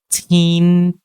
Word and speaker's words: teen: Okay, so the double E needs to be enunciated a little bit longer. Okay, so when we pronounce this this E sound, okay, remember to open your lips to the side.